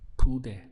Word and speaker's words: pude: If we're expressing I could as a dot in the past, that would be pude. Pude. 2 syllables.